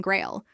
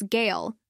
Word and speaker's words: Gale: Ordal then pointedly mispronounces his name as Baron Grail, further infuriating the Baron, who insists it's Gale and blames the temple staff.